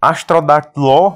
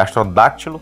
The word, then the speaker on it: Astrodáctilo: Astrodactyló, não é Astrodactyló, viu, cara? Só uma correçãozinha, o acento agudo é no segundo A ali, né? A sílaba tônica é no segundo A. É Astrodáctilo, mas Enormossauro.